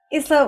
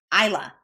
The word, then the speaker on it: Isla: Isla, where can we find you?